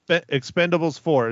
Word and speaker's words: Expend4bles: that's right instead of an eight but it's Expendables four is how I am pronouncing it if you have some time go